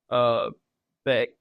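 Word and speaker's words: Bech: I was like, that's the only time you're ever going to see Beck on the back of an NFL jersey. And it's spelled different. It's B-E-C-H instead of B-E-C-K.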